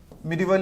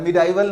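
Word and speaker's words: medieval: दूसरा आपका मिडिवल India, ध्यान रखना है मिडिवल होता है, मिडाइवल नहीं होता, इट्स अ रॉन्ग प्रोनाउंसिएशन, ये आपको ध्यान रखना होगा।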